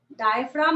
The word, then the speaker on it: diaphragm: तो इस स्ट्रक्चर को आप लोग लेवल कर लेंगे, DIAPHRAGM, जी साइलेंट होता है यहाँ पे। डायफ्राम लिख लेंगे बाद में,